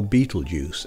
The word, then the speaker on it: Betelgeuse: in the constellation orion betelgeurs or beetlejuice as it's popularly pronounced is a red supergiant